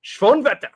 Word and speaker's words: Schoenwetter: There's this kid say Cole Schoenwetter, but it's like Schoenwetter. We should be saying it German. Everyone needs to be doing German pronunciations now.